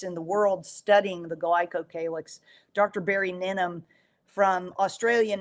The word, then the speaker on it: glycocalyx: Um and forgive me if I'm a pronouncing this wrong, glycol glycolyx? Glycocalyx.